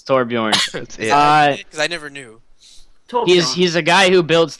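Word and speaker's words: Torbjörn: if you don't say it right torbjorn it's torbjorn I never knew Tor he's a guy who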